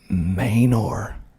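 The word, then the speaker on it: Manor: how they say it next is Mayor mayor mayor mayor ER it's spelled m a n o r someone's trying to talk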